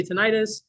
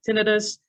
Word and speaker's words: tinnitus: Harriet Jacobster, an audiologist and expert on what I say tinnitus. She says tinnitus, tomato. Let's call the whole thing off.